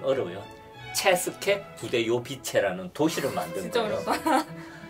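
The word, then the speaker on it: České Budějovice: 뭐 80년 전까지 그런 왕국이었는데 오타카르 2세라는 국왕이 도시를 하나를 만들었는데 그 도시 이름이 발음이 좀 어려워요. 체스케 부데요비체라는 도시를 만든 진짜 거예요.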